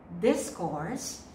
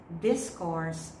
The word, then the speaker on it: discourse: Okay, the next word can be pronounced in two ways depending upon its use in the sentence. It can be discourse if it is a noun. I repeat, discourse as a noun, discourse as a verb.